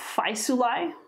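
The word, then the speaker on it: Faesulae: others oh battle of phi sulai that a e sounds like i hi that kind of sound constanz is how his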